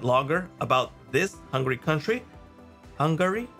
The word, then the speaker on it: Hungary: Hungary. Yeah, that's at least how you say it, not hungry.